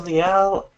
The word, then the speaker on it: Liel: God that's here pronounce my name is Leal I'm in hola I was